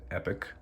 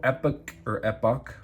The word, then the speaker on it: Epoch: So if you take a look right here, it does say Epoch, and that's how I'm going to pronounce it, Epoch.